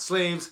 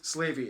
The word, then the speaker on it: Slavey: and named after the slavy people not slaves slavey it's a tribe also